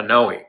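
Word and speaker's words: PNOE: this metabolic testing unit called a pinoy pinoy is spelled p-n-o-e um it's a really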